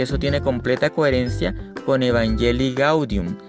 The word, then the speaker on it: Evangelii Gaudium: una lectura o relectura de Evangelii Gaudium o Evangelii Gaudium, que es la pronunciación correcta.